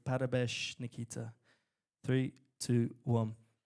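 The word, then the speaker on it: Parabéns: Parabesh. Okay, we're going to say Parabesh.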